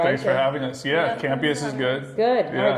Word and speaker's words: Campeas: Yeah, Campeas is good. Good. Yeah. All right, that's good. All right, I Better pronounced it than- right.